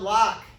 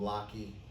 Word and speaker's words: Locke: that you must know john locke is silent please don't call him lockheed john locke he writes